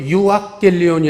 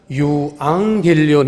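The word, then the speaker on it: εὐαγγέλιον: 유앙겔리온, 복음이라는 단어도 유악겔리온이 아니라 유앙겔리온 해가지고 이응 발음으로 그게 강음이 유음화됩니다.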